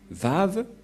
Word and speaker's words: Vav: Et donc, la prononciation du lettre Vav en hébreu, selon la prononciation de Abraham et Moshe, on le prononce V, mais pas W ou comme avec certains, c'est directement V.